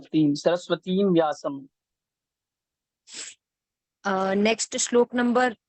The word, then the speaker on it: सरस्वतीं: सरस्वतीं व्यासम, तो इसका जो मात्रा है वो छोटी ई की है, सरस्वतीं, हम इसको ऐसे एक्सटेंड हाँ, करेंगे। सरस्वतीम है, मतलब दीर्घ, मतलब बड़ी ई है।